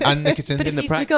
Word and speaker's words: Anne Nikitin: And Anne Nikitin. That's how you say it, right? Just double checking. Anne Nikitin. Anne Nikitin. Darn it. You got it. Anne Nikitin.